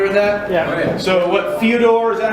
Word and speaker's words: Fyodor: So what Fyodor, is that how you pronounce that guy's name?